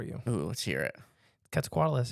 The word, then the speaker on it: Quetzalcoatlus: oh let's hear it quetzales has five syllables in it wait huh that's what it says because it's really difficult to say properly so if you say it with more or less than five syllables you're saying the name wrong uh-huh well there you